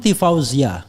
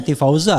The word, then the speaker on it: Tifauzia: Ya, bukan Tifauza kan? Tadi saya Zia sebenarnya, tapi saya agak sembunyikan sedikit. Jadi Tifauzia Tiasuma, S-nya double ya kan? Nah, ini pronunciation betul tuh Tifauzia Tyasssuma. Benar.